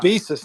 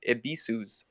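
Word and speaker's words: Ebisu's: Abisus, no one can still say Abisus. It's like, what the fuck's all that about? Still to this day, yes, that is true because it's pronounced Ibisus.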